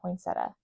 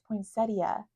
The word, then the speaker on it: poinsettia: poeta my whole life I've been saying poinsetta my whole life and then a couple years ago someone said no it's poinsettia and so I was